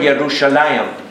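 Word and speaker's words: ירושלים: Hebrew now when you look at the word yerushalayim the word I am means how do you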